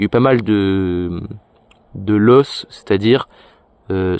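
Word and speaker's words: loess: terre, il y a eu pas mal de loss, c'est-à-dire, ça s'écrit L-O-E-S-S.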